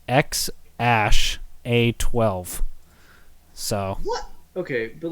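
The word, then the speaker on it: X Æ A-12: So it's spelled like this, which is pronounced X Ash A12.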